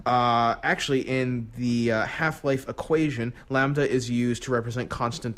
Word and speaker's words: lambda: The symbol for Half-Life, I didn't realize this was Lambda. Is that how you pronounce it?